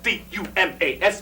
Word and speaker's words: Dumas: Well, you know what the It's time spelled D-U-M-A-S, but it's pronounced Dumas. Dumas, like Alexander Dumas.